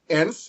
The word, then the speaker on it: nth: least two such words nth as in the nth degree and TV now the word nth has it implied e sound the short e sound at the beginning one could spell it